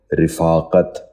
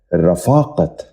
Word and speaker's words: رفاقت: 15واں لفظ ہے رفاقت. یہ غلط تلفظ ہے. درست تلفظ ہے رفاقت. دوبارہ سنیے، رفاقت. بچوں آپ بھی ذہن نشین کر لیجئے، رفاقت.